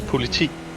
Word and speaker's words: politi: In Danish, it's politi, Politi? which is just police.